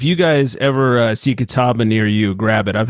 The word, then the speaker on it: Catawba: message to wendy to see how to properly pronounce it uh she just sent back let's see how she says it catawba okay oh you weren't too far off her